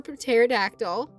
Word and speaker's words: pterodactyl: Oh, also since you just got here, this is this is Peter, short for pterodactyl. Yes, I know you don't pronounce the P.